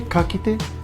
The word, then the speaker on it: ka kite: Ka kite. Now, did I say it correctly? E ka kite.